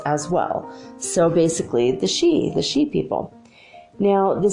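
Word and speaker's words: Sidhe: for you if they like you now the she it's felt s idhe but pronounced she are Irish fairies and they're attracted to anything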